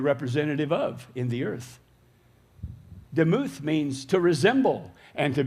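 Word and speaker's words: דמות: Now, likeness is the Hebrew word that is pronounced demuth, and it's very similar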